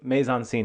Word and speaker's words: mise en scène: scène, if you want, mise en scène, that's how you pronounce it.